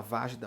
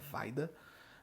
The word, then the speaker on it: Wajda: Andrzej Wajda, a gente fala Vajda, mas o nome dele se pronuncia Wajda, né?